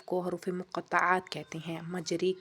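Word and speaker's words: مجراها: حروف مقطعات کہتے ہیں۔ مجرے کا تلفظ مجرے، قطرے کی رے کی طرح ہوگا، مجریہا۔ شد والا حرف ہمیشہ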